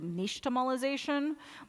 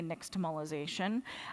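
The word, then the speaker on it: nixtamalization: So this technology, this word actually comes from the Aztec language. So it's pronounced closer to niche tomolization, but it we can say nixtomolization.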